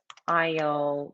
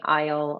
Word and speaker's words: aisle: Aisle, like this, you know, the corridor, the aisle of the airplane. Sabe o corredor do aeroporto? Aisle. Então, você não vai pronunciar o S, vai ser aisle, because the S is before the L.